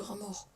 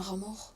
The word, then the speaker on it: rat mort: Un rat mort s'écrit rat mort, sans T et sans le T. Les 2 T sont muets.